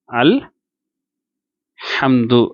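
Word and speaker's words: الحمد: இதை எப்படி உச்சரிக்கணும்னு சொன்னாக்கா அல் ஹம்து அப்படின்னு உச்சரிக்கிறோம், சரிங்களா?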